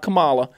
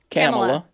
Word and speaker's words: Kamala: It's spelled Kirstjen. Kirstjen. Kirstjen. That's the way you say it. Like Kamala Harris, not Kamala. Kamala.